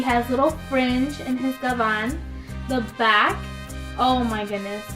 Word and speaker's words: gabán: This is a gabán. That's how you say it in Spanish and in English.